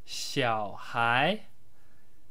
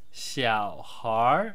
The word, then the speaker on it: 小孩: Hi guys, this brief video is about the basic Chinese word xiǎohái. Xiǎohái, otherwise pronounced xiǎohár in the northern dialects, which means child or kid.